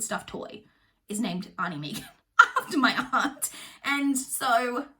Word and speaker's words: Megan: Megan. In case you don't know, we pronounce the name Megan in Australia.